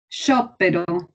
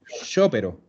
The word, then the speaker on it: sciopero: Sciopero. Ojo que no tiene doble P. Sciopero.